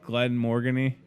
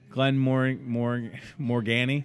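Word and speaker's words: Glenmorangie: how to say it Glen Morgan E Glen more more more Gani that's how you say Glen Morgan Oh Glen Morgana if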